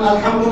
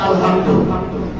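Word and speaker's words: الحمد لله: আর যদি এটা হা দিয়ে বলেন, গোল হা দিয়ে, কারণ সবাই তো হা উচ্চারণ করতে পারে না, ঠিক না, চাপ দিয়ে যেটা আছে বলতে হয়, যেটাকে বলা হয় ছোট হা।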